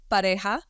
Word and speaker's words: Pareja: Yeah, and it is pronounced pareja.